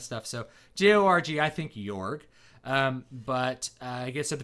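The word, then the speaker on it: Jorg: who I am calling York his name is spelled J o-r-g which can be ambiguous because you like when I see Jo RG I think York I think soft J maybe that's cuz you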